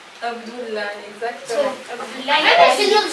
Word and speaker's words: Abdullah: Ça prononce comment? Abdullah. Abdullah, exactement.